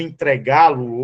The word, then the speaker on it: entregá-lo: Observe que o verbo entregá-lo hoje, entregá-lo, observe que o G tem um acento. Por quê? Porque, se você perceber, ó, entregar, a sílaba mais forte é o G. Ela é uma oxítona.